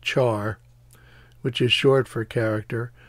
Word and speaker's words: char: data type for key is character and it's pronounced char which is short for character but usually yeah